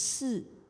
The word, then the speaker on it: 思: It's pronounced 四.